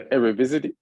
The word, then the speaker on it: Eredivisie: he's had in the Eredivisie. I can't say it right. The Dutch league, the Eredivisie. That's the right way to say it.